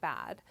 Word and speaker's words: Bad: a place in switzerland bad means spa and they actually pronounce it bad what they did is